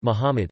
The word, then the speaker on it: Muhammad: Muhammad Arabic, Mumd pronounced Muhammad, c.